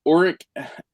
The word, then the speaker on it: uric: I think it's uric acid.